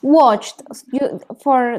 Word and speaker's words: watched: Watched. This is also a verb that we need to pronounce the T.